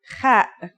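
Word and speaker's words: خ: According to phonetic charts, ha is pronounced in a deeper part of the throat than kha. Listen and repeat. Kha.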